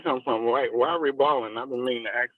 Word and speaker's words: Riballin: It's not Riballin, it's Riballin.